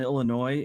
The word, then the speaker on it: Illinois: I also feel that silent S on Illinois is a little obnoxious.